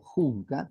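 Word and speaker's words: Hunka: un señor de apellido junka h u k Ah se pronuncia junca Todavía vive tiene más de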